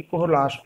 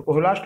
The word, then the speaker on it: Kohlrausch: तो मैं जो अगला टॉपिक मैं बात करने जा रहा हूँ वो मेरा अगला टॉपिक, मैंने अभी आपसे नाम लिया कि कोहलाश लॉ।